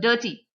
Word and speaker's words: dirty: So 2-syllabic word we have to stress on the first syllable.